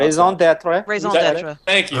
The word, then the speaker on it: raison d'être: I can't pronounce Raison d'etre. Raison d'etre. Thank you. Raison d'être.